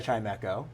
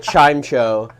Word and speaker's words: Chimecho: I first saw it, it seemed like it was Chimeo. I took the echo the E with the echo instead of the E with the chime.